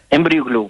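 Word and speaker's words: EmbryoGlue: دكتور يعني في تقنية جديدة أنتم تستخدمونها في هذا المجال، هي ما أدري إذا بنطقها بنطق سليم ولا لا، إمبريو جلو. إمبريو جلو مظبوط.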